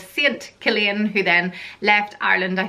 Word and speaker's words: Cillian: first name on my list is the name Killian and that's spelled see I ll I am and you